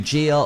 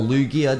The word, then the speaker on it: Lugia: actually going to be Lugia or Lugia depending on how you want to pronounce it now he is actually